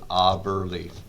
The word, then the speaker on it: Aberle: But our last name, in remembrance of my father, is Aberle. Aberle. So where does that come from? My dad. He's got brothers that pronounce their name Aberle. Oh, okay. But my dad is a stubborn German. I was going to ask his German roots, yeah. He goes by Aberle, and he let us,